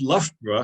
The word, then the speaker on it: Loughborough: pronounce because of course Loughborough has got exactly the same syllables uh pronouncing completely different ways in the same word because the front half of it is lock meaning Lake the back end of it is Germanic as in Edinburgh and Hamburg etc etc or we